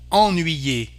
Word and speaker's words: ennuyer: For example, here we have the pronunciation en, ennuyer, to annoy, ennuyer, vendre, to sell, en.